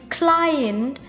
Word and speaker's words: client: In client, IE have the sound I.